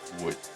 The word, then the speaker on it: wood: The table is made of wood. Muy bien. Wood. Es un sonido nuevo que no tienes en castellano. Wood. Esa W tiene una pronunciación extraña. Es como una G y una T.